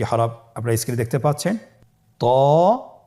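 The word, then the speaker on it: ط: তো হরফটি মোটা হরফ, এটা উচ্চারণের সময় অবশ্যই মোটা করতে হবে এবং উচ্চারণ করার সময় 1 আলিফ টেনে পড়তে হবে।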